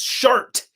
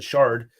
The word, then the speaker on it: Shart: It's shart, like the poop, not like in Transformers and the shard.